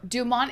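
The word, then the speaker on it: Dumort: I'm am i saying that incorrectly Dumont no Dumont is the correct pronunciation oh right where is how it's changed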